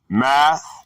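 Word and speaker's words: μαθητής: And it reads, the word mathetes, pronounced math-a-tes, from 3129.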